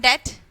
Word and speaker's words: debt: okay just say that here the b is silent and what do you mean by debt huh what kadam okay